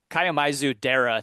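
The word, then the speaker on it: Kiyomizu-dera: Um so I visited this temple and I'm going to mispronounce it obviously but uh it's Kaio Kaioisu. K I Yo M I Zu. Kaiamizu Dera temple in Kyoto and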